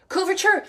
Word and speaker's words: couverture: is almost the only time I use them couverture thank you is that how you pronounce it yes we've got someone on instagram